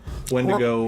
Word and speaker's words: Wendigo: even get our names correction wendi-go is actually helps pronounce Wendigo yeah we've been trucking